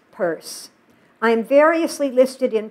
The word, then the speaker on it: Peirce: it with the other, Pierce, pronounced Peirce, blamed most of his problems on his own left-handedness.